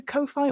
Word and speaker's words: Ko-fi: of bucks on the Ko-Fi or Coffee, depending on how you say it.